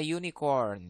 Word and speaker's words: unicorn: Horn is Iya a Unicorn Ya walaupun dia huruf hidup tapi dibacanya huruf mati makanya pakai e Oke sekarang kita eh